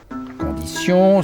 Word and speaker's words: condition: Conditions, situation, réservation, impression, expression. En anglais, cependant, si on se prononce toujours ch attention, sans accentuer la fin des mots en anglais.